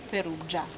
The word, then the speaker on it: Perugia: And since that time, on all written documents we have Augusta Perusia, even if later wordly the name became Peroscia and later Perugia. This is the right pronunciation.